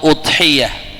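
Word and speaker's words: أضحية: yaitu hewan kurban atau udhiyah. Ya, jadi begitu cara bacanya. Udhiyah. Udhiyah. udhiyah. Jadi bisa kita lihat di ee secara bahasa ada udhiyah ya. Jadi y-nya bertasydid ya udhiyah.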